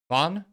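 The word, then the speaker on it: Ghosn: that former Nissan supro Carlos uh Bon which actually how you pronounce it properly write his book last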